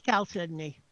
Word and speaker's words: Chalcedony: Chalcedony, how you pronounce it? No, it's Chalcedony. Believe it or not, even though there's an H.